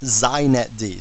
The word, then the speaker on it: xinetd: me just say a couple things first it's pronounced zet D so if you want to be hip you